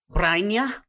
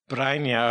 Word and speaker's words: Brynje: So pronounce the name again. Brainia. Brainia. Okay. So this is Brynje.